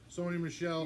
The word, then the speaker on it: Sony Michel: really bad ya know here Sony Michelle you're right I mean he had seven point